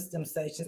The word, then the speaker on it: STEMsation: Now, our definition of STEMsations, I used to know by heart, y'all. We got to get back to it. But as you can see, it is a noun. That's how you say it, STEMsation.